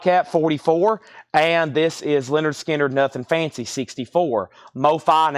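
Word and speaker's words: Lynyrd Skynyrd: stuff big brother in the holding company $64.99 pronounced Leonard skinnard $64.99 that was Mofi that's analog Productions fog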